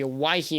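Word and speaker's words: Owyhee: and the mountain range we have the the awaii mountains that's how you say it and then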